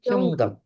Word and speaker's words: 현금: Bacanya Hyonggem.